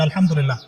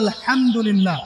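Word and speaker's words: الحمد لله: আপনি করছেন আল্লাহু আকবার, আলহামদুলিল্লাহি রাব্বিল আলামিন, এই তো আপনি পড়ছেন আলহামদুলিল্লাহ। শব্দটা কি? আলহামদুলিল্লাহ। এই হা এর মাখরাজ কোথায়? হা এর মাখরাজ কোথায় বলেন একজন? কণ্ঠনালীর মাঝখান থেকে।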